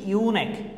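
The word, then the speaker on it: eunuch: তারপরে হচ্ছে ইউনেক, এই যে ইউ উচ্চারণ আছে ইউনেক মানে কি হিজড়া, যারা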